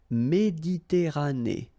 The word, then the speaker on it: Méditerranée: la mer Méditerranée, okay, here final not pronounced, but then you pronounce this E at the end, Méditerranée, okay, la mer Méditerranée.